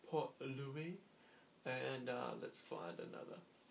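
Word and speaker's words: Port Louis: Yeah, Mauritius has a capital and it's Port Louie. Well, some people would call it Port Lewis, but I believe it would be pronounced Port Louie.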